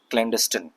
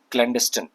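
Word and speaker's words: clandestine: ठीक है, क्लैंडस्टिन, ये इसका प्रोनाउंसिएशन है। यहाँ पे अगर आप देखेंगे तो ये एडजेक्टिव है और ये इसका प्रोनाउंसिएशन लिखा हुआ है क्लैंडस्टिन। ठीक है, क्लैंडस्टीन नहीं है, क्लैंडस्टिन।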